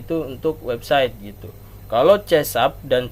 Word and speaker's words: C++: Tulisannya begini, C pagar gitu. Dibacanya C#. Nah, ada juga bahasa pemrograman C++ gitu. Ya, bukan Pijet++ ya, tapi C++ gitu. Ya.